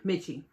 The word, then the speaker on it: Miche: this magazine by mitch mitchie i believe that's how you pronounce it by mitchie now what